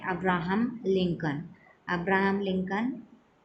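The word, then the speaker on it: Lincoln: एन कि सीओएल and Abraham लिंकन की smell silent है हैं नेक्स्ट मैं इसे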